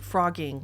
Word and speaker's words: Phrogging: we are talking about frogging yes it's pronounced frogging like the animal frog except it is spelled with a pH not an F recently I asked you